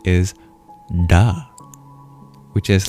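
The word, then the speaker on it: ड: That single Sanskrit sound is duh, which is like a d in English. But in Sanskrit, this sound you curl your tongue back to pronounce it.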